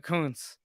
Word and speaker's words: Kountz: on the believe Network Dylan Coons right I got that right Coons yep my pronunciations ain't ideal